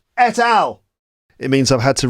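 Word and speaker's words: et al: No, it's pronounced etal. Of course, it's pronounced etal. I knew that already. I don't know why I decided that it was pronounced at all. But it's not pronounced that. It's etal.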